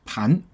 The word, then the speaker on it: 胖: Now this character has two pronunciations. Oops, sorry. Another one is pronounced as 盘. 盘 means easy and comfortable.